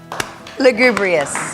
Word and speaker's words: lugubrious: lot oh she did it's Lou Lou okay I'm gonna start reading okay look good Bree yes I got lost in the syllables there it's Bree us okay I got it